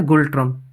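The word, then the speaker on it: Ngultrum: ये पूछा गया है गुल्ट्रम। इसमें एन साइलेंट होता है, तो गुल्ट्रम जो है वो भूटान की मुद्रा है।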